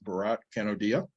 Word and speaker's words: Bharat Kanodia: This is Barat Canodia.